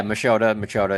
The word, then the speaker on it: Machota: Today, we're joined by Jon Machota. Am I pronouncing that right, Jon? Yeah, Machota, it's fine. Machota. Close enough.